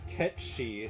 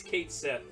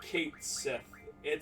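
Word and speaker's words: Cait Sith: Oh, man, I always pronounce this wrong. Kiat... Dang it. We just did this, like, last time. It's Ketshi.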